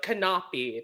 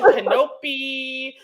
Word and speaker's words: Canapi: beginning of the episode cannot be that's how you say my last name oh yes i'm saying